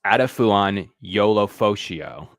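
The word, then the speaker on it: Edefuan Ulofoshio: in the talent pool for sure so it's pronounced aduan YOLO fio aduan Yol Yola fio is how you uh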